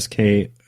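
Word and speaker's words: sika: is it uh I I know how to pronounce it SK or s i k a those guys are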